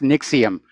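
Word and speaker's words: NXIVM: And by the way, I think it's pronounced Nixium, despite the way it's spelled.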